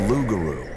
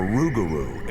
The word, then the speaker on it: rougarou: The lugaroo or rugaroo as the local cinjun pronounce it is not a peaceful beast like Bigfoot.